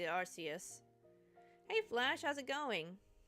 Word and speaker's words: Arceus: predated the Legends of Arceus. Arceus. Arceus is the correct pronunciation, I think, but I keep defaulting to Arceus.